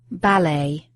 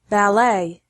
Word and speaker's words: ballet: first is worse stress some words particularly those of French origin are emphasized differently in American English with the last syllable stress in American English and the first syllable stress in British English particularly those of French origin were American English preserves the final syllable stress why British English keeps the first syllable stress adult adult ballet ballet brochure brochure when it comes to